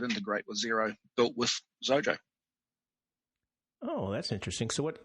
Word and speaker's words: Xojo: I like you know zero rhymes with zojo oh that's nice four